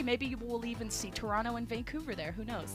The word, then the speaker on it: Toronto: Overwatch League is coming to Toronto, and if you really want to impress the locals, make sure you don't pronounce the second T.